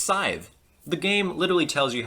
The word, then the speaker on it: Scythe: That's how you pronounce the word side.